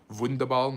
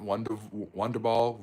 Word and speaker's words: Wunderball: The W is a V. Wunderball, not Wonderball, Wunderball.